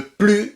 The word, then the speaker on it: plus: plus à la mode attention ici le plus ne se prononce pas parce que c'est elle fait partie d'une négation c'est pas plus de 1 plus 1 an non non non c'est plus c'est-à-dire négation voltaire n'est plus à la